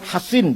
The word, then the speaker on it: Hasin: Kalau Sin Husein bacanya kalau Shad Hasin bacanya.